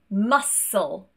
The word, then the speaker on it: muscle: Moving on to the letter C, and this is silent when it's next to an S. For example, muscle, scissors, science. We don't want to hear that k sound, we only want that s instead. I also want to point